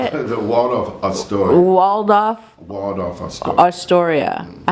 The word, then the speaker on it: Waldorf Astoria: The Waldorf Astoria.